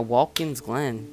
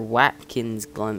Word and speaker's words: Watkins Glen: interesting we're going to be racing at wkins Glenn or Watkins Glenn or I'm pretty sure it's wkins even though there's W in the front but um six laps